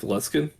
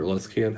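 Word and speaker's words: Luskan: I would say that he was more like based out of Luskin or Luscan, however you want to pronounce it.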